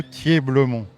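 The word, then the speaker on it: Thieblemont: Thier-Blemont. Oui. Alors, clairement... Ça s'écrit T-H-I-E-B-L-E-M-O-N-T.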